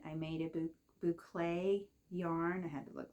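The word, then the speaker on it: bouclé: Maven and like I said I made a bouay yarn I had to look that up to make sure I pronounce it right and I've always thought these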